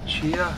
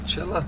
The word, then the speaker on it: chia: But, and also these little guys are chia, not chilla. And we said gila monster, but apparently you don't pronounce the G or the L, so it's more like hia monster.